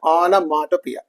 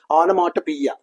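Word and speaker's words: onomatopoeia: okay that is called anopia so see the pronunciation anopia onia anopia three for three or four times three to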